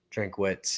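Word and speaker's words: Drinkwitz: money line I think they're just better coached drink witz he's a nerd is that how you say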